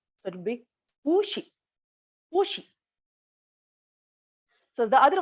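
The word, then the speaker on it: 不: So pu will be pronounced in second tone, that is the high rising pitch. So it will be pu she, pu she.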